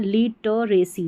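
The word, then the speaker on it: literacy: इसका उच्चारण यहां पर ये जो इ रह रहा है इसका उच्चारण अ हो रहा है लिटरेसी साक्षरता इलिटरेट होता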